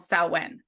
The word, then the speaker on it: Samhain: but in the witchy word we're it's called saen yeah and then also talking about some oh